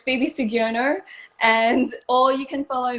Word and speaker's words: Soegiono: last name i know my last name is so hard to pronounce people always think it's like so edgy you know or something my friend my friend made it up like so which phoebe's so edgy you know and i'm